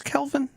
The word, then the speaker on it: Kelvin: Is it Kevin or Kelvin? Calvin with an L. Yeah, with an E, excuse me. Kelvin. It's one of those names that you hear people say it wrong, and you're like, wait, which one was wrong? That's fair. Because I hear both Kevin and Kelvin, and I'm like, I'm pretty sure it's Kelvin.